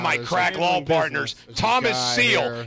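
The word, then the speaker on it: Seel: crack law partners thomas seal you just like the animal seal well you say it like that but he doesn't have an a it's s s-e-e-l he's well-dressed we still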